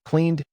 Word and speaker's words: cleaned: Cleaned ends with D because clean finishes with a voiced N.